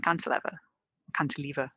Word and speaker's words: cantilever: Is it the fact it's not a cantilever, if you prefer? You can pronounce it both ways.